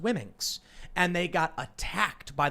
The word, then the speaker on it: Womxn: And they said Wimixen, WOMXN, Wimixen. I don't know. And they say it's pronounced Wimminx.